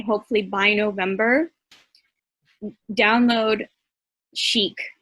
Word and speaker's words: Sheq: hopefully by november download chic it's spelled s-h-e-q some people are calling it she-q which it doesn't really matter chic um so download cheek